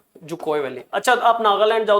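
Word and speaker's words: Dzükou: आपकी ये वैली है जुकोय, डी साइलेंट होता है इसमें, जुकोय, जुकोय वैली।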